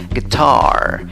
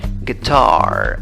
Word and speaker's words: guitar: Guitar, guitar. O si quieres con la I, guitar, guitar. Es parecido, ¿verdad? Pero ponle, por favor, la fuerza de voz en la segunda sílaba.